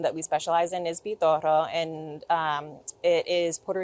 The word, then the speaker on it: Pitorro: PTOro. Help me help me pronounce that. Spell it for me. P I T O R R O. So, I'm rolling my R, but if you don't roll the R, it's PTO.